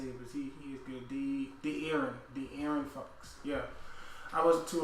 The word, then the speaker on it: De'Aaron: I was aware of D'Anthony. No, is that how you say D? Ooh, I gotta remember how to say it, but he is good. De'Aaron Fox.